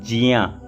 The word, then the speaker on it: ज्ञ: निर्माण कैसे होता है, ये कैसे बनता है, का और या मिलाकर के ज्ञा बनता है, तो इसको वैसे बोलते हैं जिया, जा और या जिया, तो या जियो ऐसा जो है तो इसका उच्चारण करना चाहिए। पर प्रचलन में इतना हो गया है कि इसको ज्ञा ही बोलते हैं, जो कि ज्ञा, वेद में भी जज्ञा ऐसा करके वो करते हैं, जज्ञा बहुत लोग बोलते हैं, तो शुद्ध उच्चारण इसका जिया है।